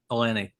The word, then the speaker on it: Elenee: And for those who are listening slash watching this, make sure to, I've been pronouncing it wrong, even though we said this like 800 times. Elenee.